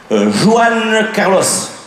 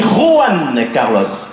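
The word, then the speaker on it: Juan Carlos: connu ah bon qui Joann Carlos Joann Carlos j'ai dit oui Joann Carlos dit pas Joan les j en Espagne il se prononce re on dit ran Carlos ah ben je savais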